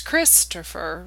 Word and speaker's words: Christopher: Topher Grace there because his name is not an I am it's Christopher right that first syllable Chris is where most people are going to put the emphasis so that's where his